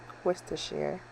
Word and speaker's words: Worcestershire: some Worcestershire sauce so I'm calling the W's dog or Worcestershire but it's Worcestershire sauce it's going to help